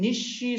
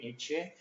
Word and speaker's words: niche: 그래서 into this huge vacant niche, 이 엄청난 텅 빈 니쉬 속으로 그런 얘기지. 니쉬 속으로. 니쉬나 또는 니치라고도 하고 니쉬라고 발음 두 가지 다 해. 니쉬, 니치.